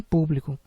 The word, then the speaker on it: público: públicar poderá se transformar também em público que é uma trisílaba sendo que a sílaba mais forte é a antepenúltima pu e por isso deverá